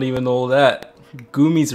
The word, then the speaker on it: Gumi: G-U-M-I. Look her up. She's like Hatsune Miku, but not. Nigga, that's Gummy. No, it's pronounced Gumi, because Japanese pronounce are weird.